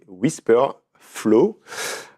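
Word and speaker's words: Wispr Flow: aussi sur mon téléphone, c'est Whisper Flow. Euh donc ça s'écrit w i s p r f l o w.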